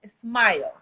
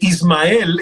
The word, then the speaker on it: Ismael: dices que los gringos cuando pronuncian tu nombre te dicen smile qué maravilla que le digan a una sonrisa es verdad porque ismael es muy difícil pronunciarlo en inglés entonces me dicen me dice smile yo le diría smile